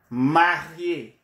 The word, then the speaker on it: marié: But if the adjective has this type of E with the accent on top of the E, marié, marié, where the E is pronounced, or divorcé, where the E is pronounced.